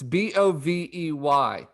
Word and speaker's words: Bovey: Why isn't it pronounced Bovey? It's Bovey.